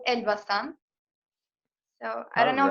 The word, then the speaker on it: Elbasan: So the city that I live in is called Elbasan.